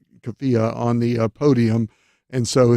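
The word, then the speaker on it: keffiyeh: a Palestinian flag and uh how do you pronounce it? Kafia. Kafia on the podium.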